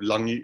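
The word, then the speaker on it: lagi: uh you also have langi in samoan even though it's spelled l-a-g-i that g is pronounced um uh you have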